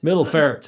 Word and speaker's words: Middelfart: Middelfart, I think it's pronounced.